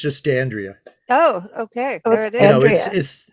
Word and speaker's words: d'Andrea: it's it's pronounced andrea it's italian but i've americanized it it's just dandria oh okay there it